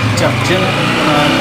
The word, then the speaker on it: Chaqchan: ہم چونکہ پہلی دفعہ یہاں پہ آئے تو تلفظ کا پتہ نہیں، تو اس مسجد کا نام کیا؟ شبچن، ہمارے بلخی زبان میں شبچن شک یعنی فیصلہ